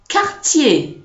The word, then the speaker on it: quartier: Okay, so in French it's qui, quand, quartier, question, and not question. Okay, so there's no w inside.